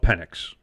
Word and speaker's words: Penix: I love Penix. I made sure to pronounce it correctly, too, because I don't need that soundbite.